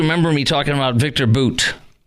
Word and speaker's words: Bout: me talking about Victor boot it looks like the word bout but it is pronounced Boot and um I'll tell